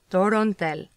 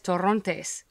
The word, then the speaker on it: Torontel: That's pronounced Torontel, also known as Torrontes.